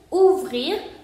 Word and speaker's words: ouvrir: Ouvrir, ¿por qué se pronuncia ouvrir? Porque OU se pronuncia U y lo demás se va a pronunciar completamente porque la R final, aquí no tenemos una E, entonces esta R final sí se pronuncia. Entonces sería ouvrir.